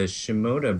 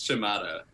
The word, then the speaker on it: Shimada: We're pretty familiar with the Shimoda brothers. And actually this week, more than ever, with Super Shimoda Bros. Am I pronouncing that right? No. How do you say it? I think it's Shimada.